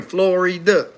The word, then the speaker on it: Florida: Again, 3 syllables. America, Florida. 1, 2, 3, Florida.